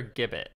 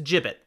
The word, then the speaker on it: gibbet: is it jupiter gibbet it's a gibbet i actually did double check i just didn't know i'm like i have no idea i can't say i've seen one in real life it's spelled with a g so it was understandable that there could be uncertainty but that's why i looked it up so i thought it was jibbet and i didn't want